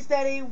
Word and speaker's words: StedE: Just search DJ StedE, and that's spelled STEDE. And it's sea like the ocean.